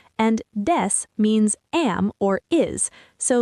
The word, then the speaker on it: です: Des, de like desk, su is very soft, almost like des.